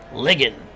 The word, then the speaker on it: Ligon: Ligon, as he says, my last name is pronounced like Biggin, except with an L. Ligon.